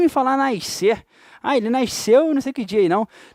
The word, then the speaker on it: nasceu: Nasceu, fulano nasceu. A gente fala nasceu. Esse S não é pronunciado.